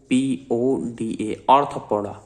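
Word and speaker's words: Arthropoda: 6 है ऑर्थोपोडा, ARTHOPODA, ऑर्थोपोडा। ओ से start मत कर देना स्पेलिंग, ठीक है, बोला जाता है ऑर्थोपोडा, लेकिन ओ नहीं है, ARTHRO, ऑर्थो, THRO है ये, THRO।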